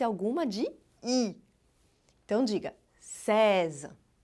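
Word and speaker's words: seize: sim César Pois é em francês 16 é reza Como reza tem o som desse aí que tensão de um aberto é César reza diga vou o César e não vou falar de novo hein lembra do iq não é para atenção de ir no final tá não é Sesi é César fazendo são dizer no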